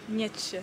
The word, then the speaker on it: Nietzsche: And the path is called, it's very weird because it seems like it's a German name, not a French name. It's called Nietzsche footpath. How would you pronounce this in German? The Nietzsche path. Nietzsche. Yeah, because that doesn't sound French. Yeah. Sounds German.